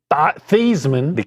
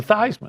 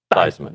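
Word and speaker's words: Theismann: providing a pass rush, he should change the pronunciation to Anto Saka, much like Joe Thesman. Changed his name to Thyman.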